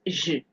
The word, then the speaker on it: je: Now in this je. I didn't say je, I didn't say je. Okay, because this e that is there is silent, so it will sound as if you are only pronouncing the consonant.